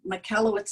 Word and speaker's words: Michalowicz: his name is mike michalowicz so mikkellowitz is kind of like michael with a oh wits at the end so if you want